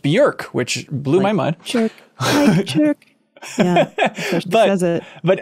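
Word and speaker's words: Björk: uh bjerk you informed the world that it's pronounced bjerk which blew my mind but on that he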